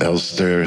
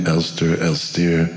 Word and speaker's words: Elstir: I pronounce him Elster sometimes, as if he had an English name, Elstir.